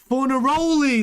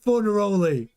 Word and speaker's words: Fornaroli: For Fornaroli, that's how you say it. Yeah, thanks Vimesh. Fornaroli.